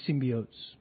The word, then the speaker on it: symbiotes: leads him to the symbiotes. Yeah. Did I say it right? Yeah. That's right, yeah? Yes, that was symbiotes.